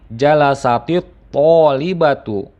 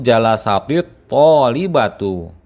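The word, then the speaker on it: جَلَسَتِ الطَّالِبَةُ: Maka untuk memudahkan dalam pengucapan dua sukun yang berdekatan tersebut, huruf tak sukun ataupun huruf tak taknis pada lafaz jalasa ini dirubah menjadi harokat kasroh. Dengan begitu maka kita sekarang akan lebih mudah dalam membacanya, yaitu jalasatit thalibatu.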